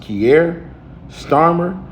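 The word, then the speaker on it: Keir Starmer: It says, "Sir, I believe his name is pronounc pronounced Kier Starmer said the new digital ID system would make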